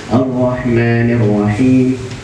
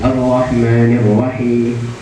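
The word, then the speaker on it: الرحمن الرحيم: Jadi cara membacanya seperti ini. Ar-Rahmanir Rahim. Bukan mi, kalau mi itu tampak semua. Jadi agak setengah-setengah membacanya. Ar-Rahmanir Rahim. Ar-Rahmanir Rahim. Ya, kalau ditampakkan semua Ar-Rahmanir Rahim, nah itu 100%. Tapi dia tidak nampak semua, seperti orang berbisik saja.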